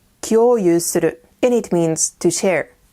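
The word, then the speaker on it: 共有する: This word is pronounced kyoyu suru, and it means to share.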